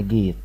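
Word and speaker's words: gate: البوابه الكبيره دي اسمها جيت اسمها جيت يبقى حرف الا لما يجي وراها حرف وبعدين حرف اي الاخيره ما تنقش وحرف الا تنق تبقى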